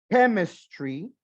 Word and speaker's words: chemistry: Vamos a trabajar biology, chemistry. Esa CH suena como una K.